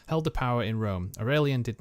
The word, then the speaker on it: Aurelian: Aurelian, that's how you pronounce it.